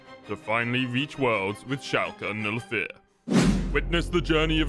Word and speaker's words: Schalke: that no native english speaker is able to pronounce or spell correctly shaka shalka shark shulkin no fear chaka i got it okay shalka no fair esports join the royal blue family